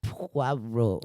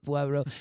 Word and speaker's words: Poirot: adaptations of Hercule Poirot, someone says his name like Poirot because it's spelled Poirot, and he's like, no, madame, you are supposed to form your lips as though you're about to give a kiss. And then he's like, Poirot.